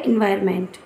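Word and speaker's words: environment: इसको स्पेलिंग के लिए आप एनवायरनमेंट पढ़ें। पर वैसे शुद्ध क्या होता है? एनवायरमेंट। ठीक है?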